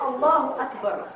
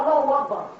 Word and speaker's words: Allahu Akbar: But where that stuff is, it's not Allahu Akbar, it's Allahu Akbar. It's the way it's said, Allahu Akbar, not Allahu Akbar.